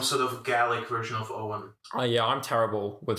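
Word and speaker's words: Eoghan: e-o-g-h-a-n mahoney e-o-g-h yeah i think that's like an owen i was there uh it's probably irish isn't it owen is slightly different in irish it could be it's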